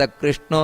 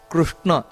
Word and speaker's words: ಕೃಷ್ಣ: ಅಗ್ರಯ ಅಂತ ಹೇಳ್ತಾರೆ ಅಗ್ರಯಶಾಶ್ವತ ಕೃಷ್ಣ ಇದು ತಪ್ಪು ಅಗ್ರಯ ಅಲ್ಲ ಅಗ್ರಯ್ಯ ಅಂದರೆ ಹಕಾರ ಬರಬೇಕಲ್ಲಿ ಇದನ್ನ ಗಮನಿಸಬೇಕು ಅಗ್ರಾಕ್ಯ ಶಾಶ್ವತ ಕೃಷ್ಣ ನೋಡಿ ಕೃಷ್ಣ ಅಂತ ಹೇಳ್ತಾರೆ ಕೆಲವರು ಕೃಷ್ಣ ಅಲ್ಲ ಕೃ ಅಂತ ಬರಬೇಕುಅಲ್ಲಿ ಹೊರತು ಕ್ರಿ ಅಲ್ಲ ಕೆಲವರು ಕೃಷ್ಣ ಅಂತ ಹೇಳ್ತಾರೆ